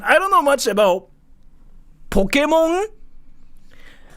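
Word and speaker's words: Pokémon: you pronounce this word how do you pronounce it Pokemon it's not Pokemon it's not Pokemon it's not Pokemon either not American it's all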